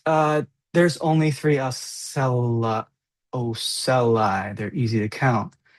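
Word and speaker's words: ocelli: So they're the pronounced oeli is pronounced oeli oeli in the plural form and oel us in the uh singular form.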